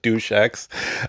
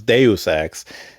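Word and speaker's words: Deus Ex: I think at one point I called it douchex. Um so I had to look it up like how the hell do you pronounce it? So it's Deusex Invisible War.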